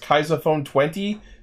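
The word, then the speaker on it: Kaixa Phone XX: phone the kaisa phone I believe it's pronounced kaisa phone 20 but it's spelled kaisa phone XX see kaisa is smart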